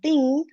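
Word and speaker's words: tiṅ: Ting is like, you can remember this as T-H-I-N-G. Ting, right? There, you have to speak until N only. You should not do the G.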